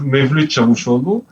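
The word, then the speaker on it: Mevlüt Çavuşoğlu: C'est-à-dire que, comme vous l'avez dit, cette visite du ministre des Affaires étrangères turc, ça se prononce en turc, Mevlut Cavusoglu, cette visite est importante parce qu'elle a eu lieu.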